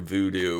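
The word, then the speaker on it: Vudu: usually just go through Voodoo which is spelled v du it's owned by Fandango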